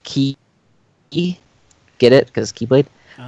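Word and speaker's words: χ: It's pronounced Chi because it's actually the Greek letter, which actually I think is pronounced Ki.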